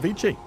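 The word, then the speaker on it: Vici: Vichi is another one of those words that like we've mispronounced for so long that it's just become accepted pronunciation cuz it vi gaming comes from veny vidy viki v is vicki vicki gaming it's vicky gaming if we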